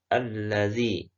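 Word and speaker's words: الذي: Tapi ada alif lamnya yang ada tasdidnya di sini. Berarti dia lamnya double. Maka ini hukum bacanya apa Ustaz? Ini hukum bacanya adalah alif lam syamsiyah.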